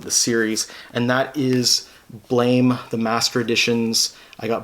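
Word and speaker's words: Blame!: from tsutomo nihei um i believe it's actually supposed to be pronounced blam or blom um but obviously in english it looks like blame so i'm just gonna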